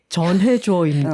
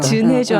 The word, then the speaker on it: 전해줘: 지금 톡토로들 약간 이런 순간이 있었을 텐데 전해줘입니다. 진해줘 아니고 우리 경상도 아지매라 가지고 으어 발음이 약간 합쳐질 때가 있어요.